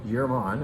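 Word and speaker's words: Jermann: Yerman, and that's how you say it, by the way. You know, a lot of Northern Italian wine names sound Germanic, and that's in fact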